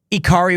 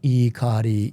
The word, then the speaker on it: Ikari: Ikari Warriors says what?